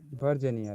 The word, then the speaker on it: Virginia: Virginia, right? Virginia. Virginia. Virginia, Stress on V.